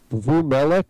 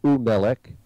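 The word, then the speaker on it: וּמֶלֶךְ: First of all, because he said Vumelech or something like that, Vamelech. In front of a mem, it's U. So it would be Umelech if it was and.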